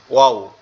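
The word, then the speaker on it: واو: তো এই ওয়াও এর উচ্চারণটা কিরকম? দুই ঠোঁট কি হবে? দুই ঠোঁট একবারে সুন্দর করে গোল আকৃতি হয়ে যাবে।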